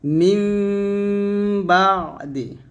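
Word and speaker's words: مِنْ بَعْدِ: মিন না বলে মিম বলব। তাহলে বলব মিমবাদি অবশ্যই একটু নুনের ঘ্রাণ থাকতে হবে মিমবাদি এরকম তারপরে সামি এখানে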